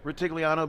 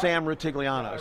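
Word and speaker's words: Rutigliano: Steve, I do that name well, Ritigliano, because that's the former Browns head coach, That's right. Sam Ritigliano. So that's one that is kind of easy for me to pronounce.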